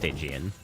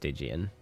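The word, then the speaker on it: Stygian: apologize but to um actually you it is pronounced stigan oh I see I'm sorry I thought you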